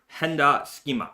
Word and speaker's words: Hender Scheme: I don't know how to say it exactly. All natural leather sneakers. Schema. Henda Schema. Enda. It's a silent H. All right, silent H. But at least in Japan we call it that.